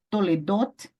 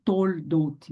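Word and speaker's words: תולדות: Toledot, toledot, toledot. E não toldot. Não é toldot.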